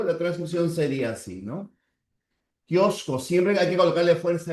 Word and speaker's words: kiosco: En kiosco tienes una Q y una C, pero ambos tienen el mismo sonido. La transcripción sería así, ¿no? Kiosco, siempre hay que colocarle fuerza de voz.